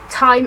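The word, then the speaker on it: Thyme: So this is the shade Time Is Money, but it's spelled T-H-Y-M-E, so it's like the herb, which actually I think is really cute.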